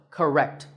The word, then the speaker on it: correct: ka and rect but in this word we stress the second syllable wrecked so correct notice how that stressed